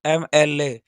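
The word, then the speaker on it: MLA: अगला सेंटेंस है, Pradeep Kumar is एमएलए। ये देखिए हमारा एमएलए है, ये हमारा सिंगुलर काउंटेबल नाउन है, और इसका जो प्रोनाउंसिएशन है एमएलए, यह जो है इसका जो प्रोनाउंसिएशन अ से लेके अह तक है।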